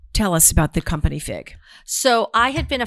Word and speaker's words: Figue: dresses and it's called fig um and um and igue guys yeah it's a french spelling figue but it's pronounced fig as in fig newton and so i um